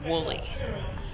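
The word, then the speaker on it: Whooley: His last name is spelled W-H-O-O-L-E-Y, Woolley.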